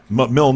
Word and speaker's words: Milne: I did get to Dumond and Milne, not Milne, how you doing? not Milne. Milne, the E is silent.